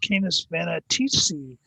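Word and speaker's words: Canes Venatici: uh in the constellation canis vanity or sometimes pronounced canis vanatisi uh which is I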